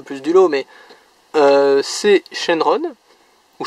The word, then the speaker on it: Shenron: Je veux dire, c'est clairement celle qui sort le plus du lot, mais c'est Shenron, ou Shenlong, si vous voulez le prononcer ainsi.